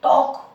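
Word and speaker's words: talk: और देखें इसमें इसी तरह से टॉक, टॉक, यहाँ देखो के पहले आ रहा है तो टॉक में ये साइलेंट रहा, टॉक का मतलब बात करना।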